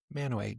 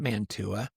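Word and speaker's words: Mantua: Kind of like if you've ever heard of uh Manoway Utah. Yeah. M A N T U A pronounced man. Manoway. Manoway not Manua.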